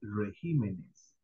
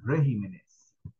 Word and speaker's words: regímenes: es una palabra que cuando está en singular se dice régimen o sea el acento está en la e pero cuando pasamos a plural la tilde se brinca la otra sílaba en en plural se dice regímenes okay No se dice régimenes Solo escuché una vez